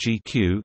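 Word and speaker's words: GCEU: Google compute engine unit GCU which is pronounced as GQ is an abstraction of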